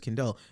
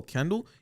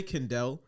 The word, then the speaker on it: Kendel: Because I tell people, I'm like, yo, my name's Kendel. And they're like, oh, Kendall? You just heard me say Kendel, and you chose to say You it chose wrong.